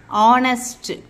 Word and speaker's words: honest: so hence o r then H silent o pronunciation honest H silent or pronunciation